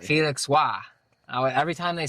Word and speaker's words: Roy: It's like how that last name where French people spelled Roy, R-O-Y, and it's pronounced Wah.